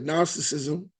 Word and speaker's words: Gnosticism: And then when you get Gnosticism, a lot of people say good Gnos, but G is silent.